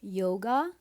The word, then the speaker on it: yoga: So for example, in modern day Hindi, this word for yoga is read as yog.